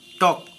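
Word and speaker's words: talk: টি এ এল কে টক, টক মানে কথা বলা। এল সাইলেন্ট।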